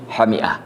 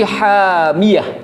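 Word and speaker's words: حامية: Tapi qiraahnya Ali bin Abi Thalib dan Abdullah bin Mas'ud itu bukan hamiah, tapi hamiyah, seperti kita baca di surah Al-Qari'ah ya. Narun hamiyah. Nah, itu bacanya hamiyah, bukan hamiah.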